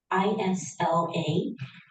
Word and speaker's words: Isla: Granddaughter Ela, Isla, pronounced without the S, meaning island in Spanish, was born on her son's birthday and was 9 years old this Monday.